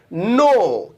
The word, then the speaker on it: know: इसे इंग्लिश में कहते हैं नो, KNOW, नो. इसकी भी तीनों फॉर्म्स अलग अलग होती हैं, और वो है नो, न्यू, नोन. के साइलेंट है, के मत बोलना, लेकिन लिखना.